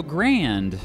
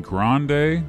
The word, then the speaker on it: Grande: I mean, as it's commonly called by its Spanish name, the Rio Grande. You mean Grande? Well, Americans often say Grand. Well, Americans say it wrong, man.